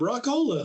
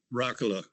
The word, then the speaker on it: Rock-Ola: But people would pronounce his name Rock-Ola, and he didn't like that. So he ended up putting the dash in there. So they had to pronounce the O.